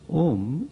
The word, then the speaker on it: Om: om he said that om is not to be pronounced as oh foreign you have to pronounce it by keeping your lips shut and he gave the